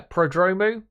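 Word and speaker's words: Prodromou: the F1 technical executive team includes Peter uh padromu or Pro yeah prodromu just trying to make sure I get that pronunciation correct who moves into the role technical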